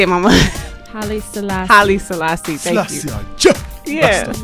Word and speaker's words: Haile Selassie: Haile Selassie.